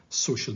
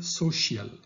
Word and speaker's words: social: Don't say social, because it's social.